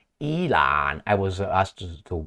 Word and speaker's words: Elon: and my training now Ellen musk oh I've been I've been told by someone that it's not Ellen musk it's Elon I was asked to